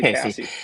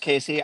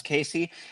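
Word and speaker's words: Caissie: I always say Cassie. Casey. Yeah, I pretty sure it's pronounced Casey. I always hear it referenced by Cubs fans as Casey.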